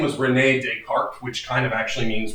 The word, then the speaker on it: Descartes: So his name was René Descartes, which kind of actually means René of Carte. And of course, we don't pronounce the ES on the end because, French pronunciation and all that.